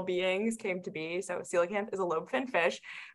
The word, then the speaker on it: coelacanth: You told me how to pronounce it, and now I can't pronounce it. Now I saw a question, and I'm scrolling. Coelacanth. Coelacanth.